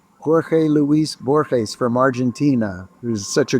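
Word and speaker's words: Borges: Ah, well, the great writer Borhees, Bor Luis Bourhees from Argentina, who's such a great terrific writer and his name is spelled B O R G- E S.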